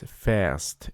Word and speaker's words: fährst: So if this A has two dots above it, first of all, these two dots are called umlaut, and the pronunciation is also different. So this is fährst, it is Ich fahre